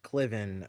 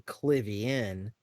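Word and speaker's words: Klivian: real quick uh this they had the hobby clivian slash cliven uh mispronunciation because there was a lot of writers somebody wrote his name as cliven in a comic and then it kind of got stuck that way but it was supposed to be clivian and then so there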